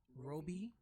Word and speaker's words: Roby: Roby it's pronounced Roby like Kobe but which with much